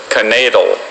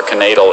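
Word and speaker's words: knaidel: Max hoped to find at least one more canadal in his soup bowl, but all he discovered was his missing lower denture. Canadal. Are there any alternate pronunciations? There's just canadal and knadal.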